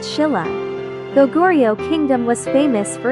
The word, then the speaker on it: Silla: At that time, Korea was divided into three major kingdoms: Goguryeo, Baekje, and Silla, pronounced Shilla.